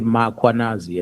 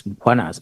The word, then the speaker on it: Mkwanazi: them to pronounce Mkwanazi, they will put an A after M. They will say Mkwanazi, and there's no A, it's Mkwanazi, MKH.